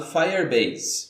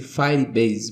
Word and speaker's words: Firebase: Para alcançar essa proesa, eu vou usar um serviço do Google chamado Firebase. No primeiro vídeo eu disse Firebase, mas a pronúncia certa é Firebase.